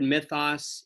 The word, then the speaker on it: mythos: I spell it M-Y-T-H-O-S. It's the Greek word for story or narrative or myth.